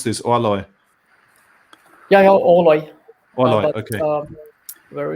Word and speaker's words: Orloj: How do you pronounce this? Orloj.